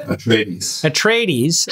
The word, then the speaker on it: Atreides: Gavin Baker from Atreides how do you pronounce it a tradies house of tradies House of tradies if